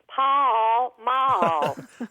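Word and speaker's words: Pall Mall: after that you know in Texas we make every word at least two or three syllables so we would say Paul Maul bye I quite didn't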